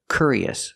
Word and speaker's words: curious: We need a different sound. We need the sound y. Curious, curious. So we have the k sound plus the y sound, like yellow and yesterday. K. Link the sounds. Cure, curie, curious. And the last syllable is the relaxed sound.